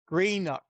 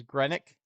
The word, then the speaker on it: Greenock: is it pronounced different do you pronounce grenick as it is spelled greenock greenuck okay so you're saying i was and i was seeing it early on as um and man i feel so embarrassed now i've you know many videos i've said i i've talked as i've pronounced it as greenwich uh green knock thank